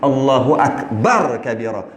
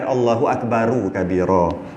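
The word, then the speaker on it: الله أكبر كبيرا: Allahu Akbar kabira. Bukan Allahu Akbaru kabira. Tapi benda tu benda kecil, tak payahlah nak viral-viral. Cuma yang betul bacanya Allahu Akbar kabira.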